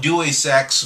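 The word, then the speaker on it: Deus Ex: it's day it's d i always call it dewy sex but it's where however it's pronounced uh it's it's a human revolution the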